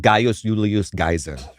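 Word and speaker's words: Gaius Julius Caesar: We say Julius Caesar, and what do you say, Jordan? Gaius Julius Geyser. He says Gaius Julius Geyser. No, that's not what I said. What did you say? No, I said Gaius Julius Geyser. Okay. And is that correct, Luke? For a classical Latin pronunciation, I think that's very good.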